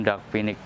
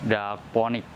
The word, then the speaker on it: Dark Phoenix: Jadi dari pasar tanaman ini sering disebut juga Anthurium dagpinic, atau juga bisa dibaca juga Anthurium dagponic. Anthurium dagponic karena memang bacanya itu tulisannya dagponic gitu ya. Jadi sah-sah aja sih kalau baca dagponic gitu ya.